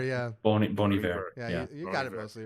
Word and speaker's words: Bon Iver: My second song, I always pronounce the artist incorrectly. Yeah. But this is one of the few J cool. No. Bon Iver. Bon Iver, yeah. Bon Iver.